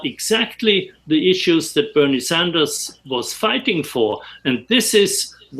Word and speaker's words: Sanders: first of all I I like your pronunciation Bernie Saunders because oh sorry here here is here is called Bernie Sanders but it's all right